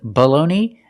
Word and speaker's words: baloney: The first word is baloney, and the second word is baloney. The first vowel is the short sound, like cup and up, below.